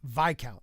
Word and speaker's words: viscount: It's pronounced Viscount.